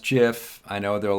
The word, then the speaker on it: GIF: file again it's pronounced jiff i know there are a lot of people that still pronounce it gif but the creator this guy steve wilhite who created the gif pronounces it jif so as an homage